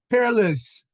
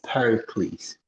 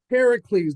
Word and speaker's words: Pericles: It's Pericles. Pericles, like Hercules.